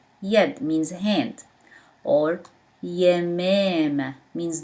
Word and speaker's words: ي: But this one is ye. B pronounced as B, but ye pronounced as Y.